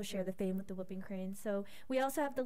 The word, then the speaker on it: whooping crane: I just know about the whooping crane.